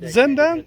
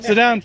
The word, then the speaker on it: Zedan: So I see you got Zendan. Is that the right Yeah, pronunciation? Zedan Farms. Zedan Farms.